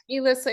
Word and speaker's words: Elissa: Elissa, it's because my mother's, grew up with around Finnish people, so they don't know how to say their vowels the American way.